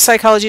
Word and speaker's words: psychology: lisp since cel's time the P has remained silent and then it says